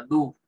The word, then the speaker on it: do: Fíjense, en algunos tenemos este, que se escribe D-O, y se pronuncia DU.